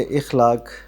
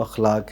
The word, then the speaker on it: اخلاق: خلق کی جمع ہے، تو عموماً لوگ اسے اخلاق کہتے ہیں، لیکن یہ صحیح اس کا جو تلفظ ہے وہ اخلاق ہے، یعنی غلط العام ہے اخلاق۔ جی اخلاق۔ تو